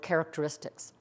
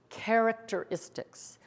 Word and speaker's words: characteristics: difficult word to pronounce listen to me say it slowly characteristics there's five syllables say it slowly with me characteristics everyone now let's say it quickly and blend it characteristics everyone characteristics is